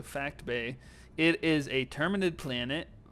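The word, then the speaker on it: Phact Bay: And my number 5 planet is Fact Bay, spelled with a PH and not an F. So Fact Bay.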